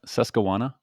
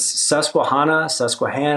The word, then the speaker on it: Susquehanna: Susquehanna?